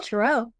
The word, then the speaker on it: tarot: And some languages leave the T off, Taro. It's still tarot. Mm-hmm. I mean, that T is not pronounced.